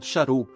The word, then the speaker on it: Charles: querido marido Ela respondeu Charles pronunciado a Francesa sharu me parecia o tipo